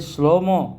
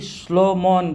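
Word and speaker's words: שלמה: अभी श्लोमोन बोलते हैं, सुलेमान बोलते हैं, सोलोमोन बोलते हैं, ये सब गलत उच्चारण है। श्लोमो बोलना है।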